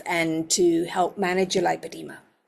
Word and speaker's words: lipoedema: You'll notice that I say lipedema and not lipedema. And I say that deliberately because in Australia it is spelt lipoedema, and I find that really helpful because there are 3 conditions that sound very similar. So in a lot of Europe and the US, they say lipedema, and that's fine.